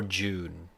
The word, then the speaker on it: Dune: Wait, is it Dune or June? Dune. How do you pronounce it? Dune. Pronunciation. Dune, Oh, wait. June, Okay. British and American have a different pronunciation.